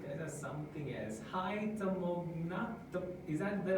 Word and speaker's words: Tamoghna: Hi, Tamogna.